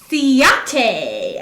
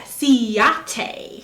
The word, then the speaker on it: Ciate: sweetest things well uh she corrected me with how to pronounce this thank you so much christy uh it's siate ciate so i'm going to put